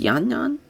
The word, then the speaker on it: Yanan: Viv arero taking on Jana I guess it's yanan yeah yanan Wu that's how you pronounce that but yanan Wu and